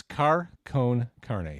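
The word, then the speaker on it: Car Con Carne: It's Car Cone Carne, CarCon CARNE.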